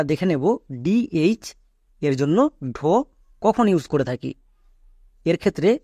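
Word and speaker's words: Dhaka: Next, এরপরে আমরা দেখে নেব ডিএইচ এর জন্য ঢো কখন ইউজ করে থাকি। এর ক্ষেত্রে রুলস হচ্ছে ডি এর পরে যদি এইচ থাকে তখন এর উচ্চারণ ঢো হবে, ডি এর পরে এইচ থাকলেই।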